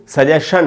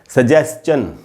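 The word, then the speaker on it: suggestion: अच्छा, ये जो वर्ड है दोस्तों सजेस्टन, इसको सजेशन नहीं बोलना चाहिए। सजेशन इसका बिल्कुल ही गलत प्रोनाउंसिएशन है। इसका करेक्ट प्रोनाउंसिएशन होता है सजेस्चन, सजेस्चन, तो इसको वैसे बोलना चाहिए।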